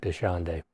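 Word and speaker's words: Dachande: Predator is called uh desande that's as close as we can get to pronouncing his name desande and he is pretty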